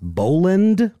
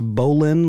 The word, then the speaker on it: Boland: of the families uh I believe it's pronounced Boland not bowling like your name but it's more of a D sound there are a cup